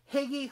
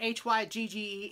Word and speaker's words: hygge: red heart hugga charm higgy hygge i was told uh by joe on garden state gardner that hygge is hygge i don't want to say it like he does but it's hygge two sparkly balls of